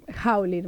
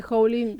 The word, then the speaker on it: Howlin: jóvenes eh Hola Cómo se dice tu apellido lo quiero decir bien haulin todo el mundo me dice hlin Está bien también hain gracias por estar guionista